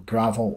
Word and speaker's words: Gravelle: the gothic pop Geo gravel from Livingston it's spelled g r a v e l l e but is pronounced like the dirt as they say on